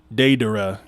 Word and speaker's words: Deidara: That's not how you say it in Japanese though, because they say da, like de da ra, de dada, not de dada, de dada. That's how you would say it with a Japanese accent.